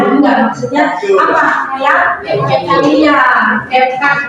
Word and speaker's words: CapCut: Iya, CapCut bacanya ya.